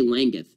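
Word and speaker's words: Langguth: Laggath. It's spelled L-A-N-G-G-U-T-H, A.J.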